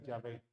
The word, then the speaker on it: Yahvé: En hebreo se utilizan estas consonantes que nosotros sabemos que se pronuncia Yahvé.